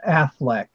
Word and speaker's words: Auchinleck: predecessor was Field Marshall you pronounce the name Auchinleck a uch okay I am jelly see it's actually pronounced Affleck okay that's how it's pronounced but action no I